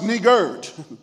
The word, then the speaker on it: niggard: I need you to understand that a niggard, pronounced niggard, with a D on it.